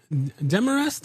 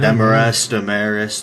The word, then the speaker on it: Demarest: Demarest is the correct pronunciation? Okay. Yes, sir, correct. I always freak out about names, and then I never ask beforehand, but right Demarest, the whole 9 yards.